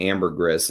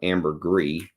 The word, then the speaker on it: ambergris: the channel, the reason I'm saying ambergris and not ambergris is because there was a book written by a guy who claims that he was with the actual ambergris hunters, and he says that's how they say it. That's how you're supposed to actually say it. You're supposed to pronounce the S.